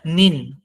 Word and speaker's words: 你: কিন্তু এইখানে একটা দেখার বিষয়, সেটা হলো যে নিতে কিন্তু থার্ড টোন, বাট নিন এ সেকেন্ড টোন। সেক্ষেত্রে উচ্চারণটা কিন্তু এখানে আলাদা হবে। যেমন নি, সেখানে থার্ড টোনটা ইউজ হয়েছে, আই এর ভয়েসটা আপ থেকে নিচে এসে আবার বাড়ছে। বাট নিন, এখানে আই কিন্তু ডিরেক্ট নিচ থেকে উপরে হয়ে গেছে, ভয়েসটা ইনক্রিজ হবে।